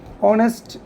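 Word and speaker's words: honest: অনেস্ট এখানে এইসের উচ্চারণটা কিন্তু উচ্চারিত হয়নি, যেমন এইসের উচ্চারণ হচ্ছে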